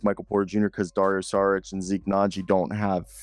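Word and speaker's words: Šarić: That's how they say it on the broadcast. Saric. Like I'm Sean Connery.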